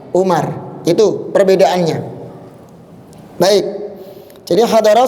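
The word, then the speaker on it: عمر: Jadi kalau antum dapati seperti ini, ada wau-nya, ain, mim, ra. Kemudian ada wau, berarti bacanya Amrun, ya, Amar, Amrun. Tapi kalau enggak ada wau-nya, antum baca apa? U Umar.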